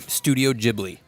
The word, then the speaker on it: Studio Ghibli: Studio Ghibli is how it's pronounced.